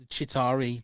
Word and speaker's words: Chitauri: Oh, the Chitauri army. I'm probably pronouncing that wrong. Chitauri. Chitauri. All right. All right. Is correct. Number one. Chitauri.